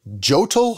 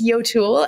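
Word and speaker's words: Jøtul: you want the uh how do you pronounce it jotel Hotel Hot what is it oh it's none of those but I love all those guesses what it's Yul and someone from Norway would be embarrassed with my pronunciation so don't feel that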